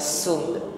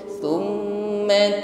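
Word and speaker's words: ثم: Sa, ya, bukan sum. Sum ringan tipis nafasnya. Tsumma turadduna ila 'alimil ghaibi.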